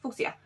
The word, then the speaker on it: fuchsia: This is how you pronounce it, fuchsia.